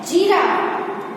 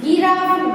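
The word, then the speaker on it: giraffe: जिराफ, भले ही यहाँ पे जी है लेकिन गिराफ ग से नहीं है, यहाँ पे जी का साउंड क्या है? जे साउंड है, ज से है, जिराफ, तो ये भी राइट होगा।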